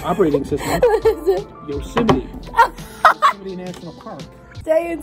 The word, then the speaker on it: Yosemite: Yosemite. I heard you pronounce that incorrectly the other day when you were talking to Apple about the processor, the operating system. What is it? Yosemite.